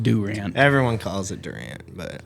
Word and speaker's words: Durant: uh where where did he live it was Duran Oklahom Duran Oklahoma Wyatt Rogers no no sorry how did you say that place it's called Durant it's pronounced Durant everyone calls it Durant but I don't know